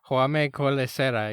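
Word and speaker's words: Jaume Collet-Serra: And J-Ship, please correct me if I'm mispronouncing this. Jaume Colesera is his name? Jaume Colesera, yeah.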